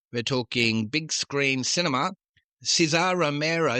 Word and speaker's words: Cesar Romero: Cesar Romero, sometimes pronounced Cesar Romero, but he pronounced it Cesar Romero.